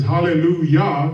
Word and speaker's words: hallelujah: up, they say, well, it's spelled with a J, but it's pronounced as a Y.